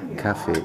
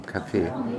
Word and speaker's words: Kaffee: El acento en alemán es en la primera sílaba, café, y no café.